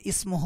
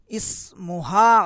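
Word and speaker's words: اسمها: তার মা উত্তম মহিলা ইসমুহা আয়েশাতু এখানে ইসমুহু আছে ভুল এটা হবে কি ইসমুহা ইসমুহা আয়েশাতু তার নাম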